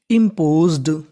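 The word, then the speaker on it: imposed: तो पूरी meaning इम्पोज्ड, इम्पोज्ड, इम्पोज्ड।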